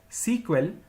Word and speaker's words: SEQUEL: initially the language was known as Structured English query language pronounced as sequel which was later changed into SQL in the year 1978.